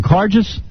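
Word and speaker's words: Karges: Cardis.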